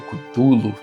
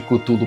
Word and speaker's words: Cthulhu: Não tem um jeito certo mesmo, porque o próprio Lovecraft já disse em cartas que ele trocava com os amigos na época que é uma pronúncia que só é feita corretamente por uma garganta que não seja humana. É impronunciável para nós, seres humanos. Cada um fala de um jeito, tá tudo certo.